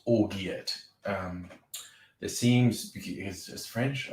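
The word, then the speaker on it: orgeat: called orga spelling it looks like it's called or yet um it seems as french i suppose there seems to be some common agreement that it's pronounced orja um but yes it's like traditionally an almond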